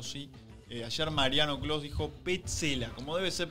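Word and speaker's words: Pezzella: Ayer Mariano Clos dijo Petzela, como debe ser pronunciado.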